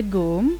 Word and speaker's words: GUM: length of two and half football fields the Goom we pronounced it as goon departments war was built over hundred years ago Moscow school mr.